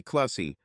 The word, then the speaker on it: Kusy: her name was Sally kusy with a long u like in key she was indeed 35